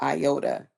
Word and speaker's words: IOTA: Um, we got something news on, let's see, I think I got news on IOTA. Iota. Did I say that right? Yeah, you said it right.